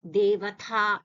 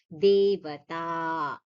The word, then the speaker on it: Devata: So here this ta and da, generally there some people, the tendency to say this ta is like dha. They'll say Devata, Devatha, ta. No, Devata.